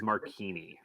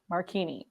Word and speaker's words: Marchini: It doesn't offend me, but the correct pronunciation is Marchini. Marchini.